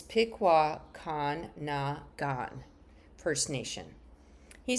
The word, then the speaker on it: Pikwakanagan: Oops, let me pronounce that again. It's Pikwakanagan First Nation.